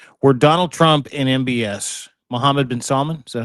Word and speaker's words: Mohammed bin Salman: There is a phone call that exists around this conversation where Donald Trump and MBS, Mohammed bin Salman, is that how you say it?